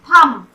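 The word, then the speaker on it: thumb: फिर यहाँ बोलेंगे थंब, थंब नहीं बोलेंगे, थंब बोलते हैं। यहाँ बी, यहाँ पर भी साइलेंट मतलब अंगूठा।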